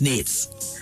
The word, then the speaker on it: NAITS: sure it's good now is it n AIT TS or it's pronounce Nate well um it's Nate the acronym is Nate Nate yes and so